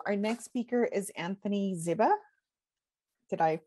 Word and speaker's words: Ziba: Our next speaker is Anthony Ziba. Did I pronounce that correctly? It's Ziba, but it's okay.